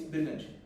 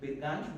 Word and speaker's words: Birganj: Get location, it announced that the current location is Birganj. The pronunciation was not correct, it's Birganj because the accent, the American accent cannot take G, U and J.